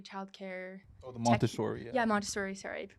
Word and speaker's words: Montessori: I think it's more of like a Montessori I don't know if you've heard of that. It's like a childcare. Oh, the Montessori. Yeah, Montessori.